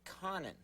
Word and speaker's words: Conan: Don't you think it's pronounced co nan? That's Conan, right? Or is it Conan?